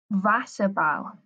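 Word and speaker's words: Wasserball: double s for spell Vassar ball a Vassar pal remember you pronounce double use like um V vas about ice hockey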